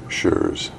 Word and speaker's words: Schreurs: Schurz could you spell your name state your name and spell it for the record please Joseph sure's SCH r e urs okay thank you have